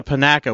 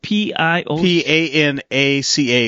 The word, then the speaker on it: Panaca: So we went to Panaca, which is 15 miles north. Okay, is that how do you spell that? Pinaca is Panaca. Oh, Panaca.